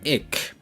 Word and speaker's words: ik: So the singular form for I is ik.